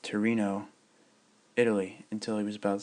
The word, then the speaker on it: Torino: was professor at the University of Turan pronounced Torino Italy until he was